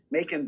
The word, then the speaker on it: Macon: thanks to Legendary and Macon Blair. Kevin Bacon is in it, and Bacon rhymes with the Macon.